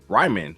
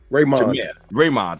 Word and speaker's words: Raymond: to get his 6-piece combo Ryman. How do you say his name? Raymond, thank you.